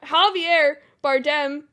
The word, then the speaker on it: Javier Bardem: picture three Baptists two Golden Globes um Javier Javier Bardem did I pronounce that correctly yep yeah um he was